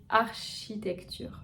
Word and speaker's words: architecture: Le dernier mot, c'est architecture. Donc vous voyez, comme chimie, le CH va se prononcer ch.